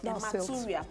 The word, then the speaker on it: hematuria: The medical condition if you get red blood cell for inside hematuria. Yes, hematuria.